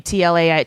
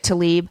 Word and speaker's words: Tlaib: Tlaib. Tlaib.